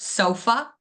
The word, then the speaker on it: sofa: So the first word was sofa, sofa. So you guys can say it out loud to your peer, but what did you think that stress syllable was? Yes, exactly. That's so.